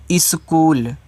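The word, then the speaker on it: school: से आपका जा रोज स्कूल तो एस सी एच बड़ा ऊ का मान देखिए डबल ओ और एल यह देखो आपका एक इंग्लिश वर्ड है जिसमें एच आपका साइलेंट होता है।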